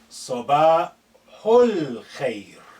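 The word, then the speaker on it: صباح الخير: Note this al-khair, because this alif is not at the beginning, has been suppressed in terms of pronunciation. It's silent, it's not said.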